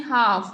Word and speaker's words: half: ඔව් අපි half කියන්නේ නේ half. එහෙනම් L තමයි silent letter එක.